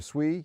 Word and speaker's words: Sui: It's like sweet but without the tea. So sui is a Japanese word for water.